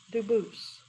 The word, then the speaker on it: Dubus: I know a family with that the same exact spelling in America, and they do pronounce it Dubus, but you said you pronounce it Dubus, Dubus? as the original Dubus, as the original French.